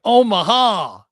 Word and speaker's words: Omaha: No, you got to say it right. Omaha.